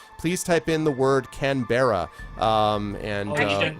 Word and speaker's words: Canberra: It's just said Canberra.